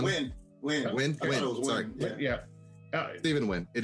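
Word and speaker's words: Yeun: Stephen Young. Win.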